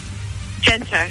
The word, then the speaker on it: Genter: How do you pronounce it? Genter. Genter.